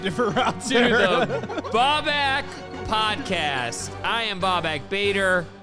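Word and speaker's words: Babak: I think it's easy to say Baubak, like back.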